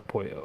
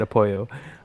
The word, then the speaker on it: Apollo: I personally think Omar apoyo I should win this one if I'm being honest that's Omarion yeah it's Apollo huh Apollo Loco I choose I choose to pronounce it Apollo um enjoy okay best